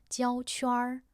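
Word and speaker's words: 焦圈儿: We should read as 焦圈儿. 焦圈儿. Sounds like 圈儿 is just one syllable.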